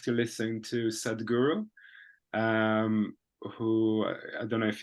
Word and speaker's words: Sadhguru: Sadhguru. Sud. How do you spell it?